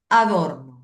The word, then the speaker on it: Adorno: Adorno como si fuera un adorno de la casa. Así se escribe igual.